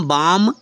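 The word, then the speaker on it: balm: बी ए एल एम बाम लगाने वाला बाम बी ए एल एम बाम यल silent हो गया देखो साइलेंट हो गया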